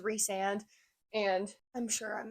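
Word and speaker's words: Rhysand: I'll let that slide it's Ric just like Ry sand is reand and and I'm sure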